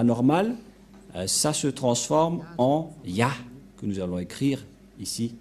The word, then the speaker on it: Yah: que selon les Hébreux, ce terme se prononce ya, Y-A-H, et lorsqu'on va le regrouper avec le va, ça donne, qu'est-ce que ça donne?